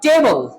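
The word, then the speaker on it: table: जब टेबल बोलते हैं तो बी एल ई बल पे स्ट्रेस आता है जो कि गलत है। उसकी प्रोनाउंसिएशन गलत हो जाती है। तो यह वर्ड है टेबल। टेबल टे को आपने प्रोमिनेंट करना है और बल को आपने हल्का सा छोड़ देना है।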